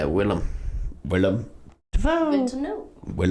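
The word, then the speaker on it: Willem: looking uh Willam defo how do you say his name Willam def is it William Willam Willam okay I've been messing that up yeah Willam Willam good to know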